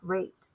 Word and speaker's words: rate: But if I leave the silent E off and I go to spell it and I go, who cares about the silent E? And I drop it off, I'm going to have the word rat and not rate.